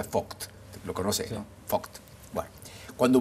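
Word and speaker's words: Vogt: alemán el doctor vct se dice pronuncia fooc lo conoces fooc Bueno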